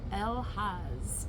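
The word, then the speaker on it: Elhaz: All right, this one is pronounced El-Haz.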